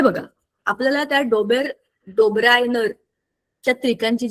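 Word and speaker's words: Döbereiner: बघा आपल्याला त्या डोबेर डोबरायनर च्या त्रिकांची जी गोष्ट आम्ही त्याला इंग्लिश मध्ये आम्हाला पण नळा होता हा आम्ही त्याला डोबेर नायर म्हणतो त्याच्या स्पेलिंग प्रमाणे तया डोबेरायनर च्या त्रिकांची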